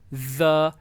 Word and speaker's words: the: Once again TH को द, ठीक है, दी, ठीक है, और आपकी यहाँ से वाइब्रेशन निकले, इसको आप प्रैक्टिस कर सकते हो। द, हल्की सी वाइब्रेशन हो तो ये इसको प्रोनाउंस करना है।